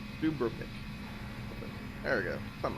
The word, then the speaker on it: Dubrovnik: We're making our way to Dubrovnik. I think, man, I'm gonna doubt myself. Like, did I pronounce that right? Dubrovnik.